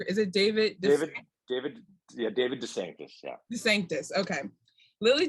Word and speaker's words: DeSanctis: Moore, and help me pronounce his last name. Is it David? David DeSanctis.